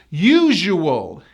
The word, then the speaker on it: usual: And we pronounce this as wool with a strong W, wool. So the whole word is wool. Usual.